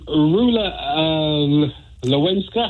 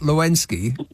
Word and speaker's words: Rula Lenska: First one, Rula Lenska. How do you pronounce the name? No, Rula Lenska, not Lewinsky.